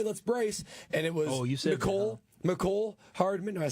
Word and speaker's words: Mecole: Mecole Hardman.